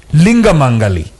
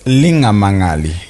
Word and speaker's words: Linga Mangali: Linga Mangali. Am I pronouncing this correctly? Good try, but it's Linga Mangali.